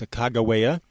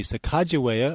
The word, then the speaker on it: Sacagawea: It's commonly spelled and pronounced Sacagawea. It could also be Sacagawea or Sakakawea, and they all mean different things.